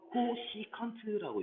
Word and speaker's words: 코시컨트: 코시 이거 코시컨트라고 읽어요.